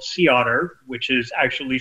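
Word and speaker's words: CEOTR: on our fleet that i operate it's called sea otter which is actually spelled c-e-o-t-r okay i forget what the acronym stands for pronounce the otter but anyway you can look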